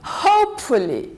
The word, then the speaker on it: hopefully: on the P only we stress on this hopefully hopefully because we have